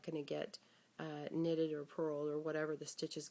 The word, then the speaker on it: purl: Now purl is spelled P-U-R-L, but I act like I'm diving for a purl, picking it up and pulling it up.